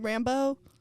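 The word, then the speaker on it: Rambeau: Monica how do you say her last name Rambo Rambo yeah Rambo um they're working together to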